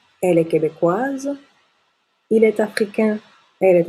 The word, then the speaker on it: africain: les nasales comme dans africain africain on ne prononce pas le N et la bouche est plutôt fermée donc au féminin on